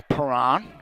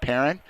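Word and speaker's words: Perron: to Ibarra number eight challenged by Paran excuse me Perrin I'm told I've been botching the pronunciations my apologies to the parent family p-e-r-r-o-n probably can be announced pronounced a few different ways but in this case Zach Perrin we'll put this one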